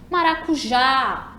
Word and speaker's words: maracujá: Então, trouxe alguns exemplos, Maracujá. Quando a gente chamou a palavrinha, maracujá, identificamos que a sílaba tônica é a última, né? Começando dali do já.